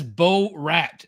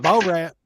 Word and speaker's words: Borat: All right, Yeah, in English, if you speak English, that is Bo Rat.